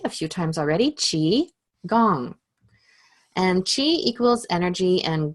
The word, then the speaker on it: qigong: talk a little bit about Chiang so it's pronounced as you've heard me say a few times already chi gong and Chi equals energy and gong is to